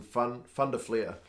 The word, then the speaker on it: Van der Flier: Van Der Fleer and I love it that Matt Pierce the South African commentator uh pronounces Vander fleer's name like a South African would pronounce his name I guess that kind of makes sense because Matt Pierce is Africa calls him fun fun to flare right instead of Van de FLIR just adding to the